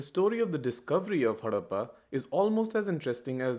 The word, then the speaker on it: Harappa: but that's okay you're just programmed not to pronounce anything correctly it's called harappa harappa was the first city-based civilization established almost